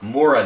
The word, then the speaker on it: Mora: We're going to be talking about Mora knives, or Mora knives as they're properly pronounced.